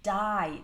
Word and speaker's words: dye: we use the verb dye that's deep ye pronounced exactly the same as dye like not be alive but died dy e means to